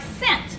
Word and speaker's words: scent: Like scent. See how it sounds like an S?